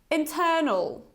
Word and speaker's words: internal: let's read it together internal internal so today I want you to pay attention to this schwa sound which is this kind of inverted e at the end can